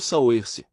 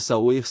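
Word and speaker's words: Saoirse: Ela pareceu um pouco reservada, mas respondeu: "Eu sou Saoers, pronúncia-sear show.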